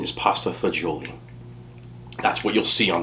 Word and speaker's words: pasta fagioli: right here this is pasta okay the correct pronunciation is pasta fagioli that's what you'll see on the menu if